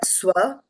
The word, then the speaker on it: svalpam: On the third line, you said sv-alpam, right? So there is no A here to say swa, Okay. right? You pronounce it together.